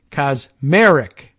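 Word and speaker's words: Kacsmaryk: federal judge ah look a pronunciation guide kasmarik which is cosmaric I guess is how they would have you pronounce it which I assume is how he would ever pronounce it is the uh now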